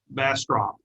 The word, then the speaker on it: Bastrop: And here's a bumper sticker that says, oh, Bastrop does not have U in it.